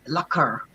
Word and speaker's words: lacquer: It's lacquer. Lacquer klinkt like lekker. Yeah, it's always like lekker.